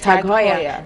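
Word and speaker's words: TAG Heuer: our in French but it was actually by a German man Haya so it's tagya so when customers come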